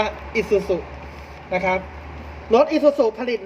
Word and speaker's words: Isuzu: Sir อยู่ นะ ครับ อ่าน ว่า อีซูซุ นะ ครับ รถ อีซูซุ